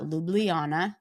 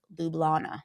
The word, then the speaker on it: Ljubljana: I think it's that silent J. So you see the dot and the silent J kind of makes it seem like there's an I in there, but there's not. Yeah. And it's just a silent J. So it's not Ljubljana because it looks like there's an I. It's Lublana.